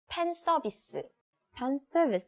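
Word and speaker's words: 팬서비스: Korean it's so easy pen service suit right we don't have F sounds in Korean pronunciation so we just use P sound instead so it's pencil okay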